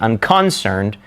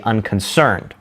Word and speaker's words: unconcerned: We don't say unconcerned, we say unconcerned.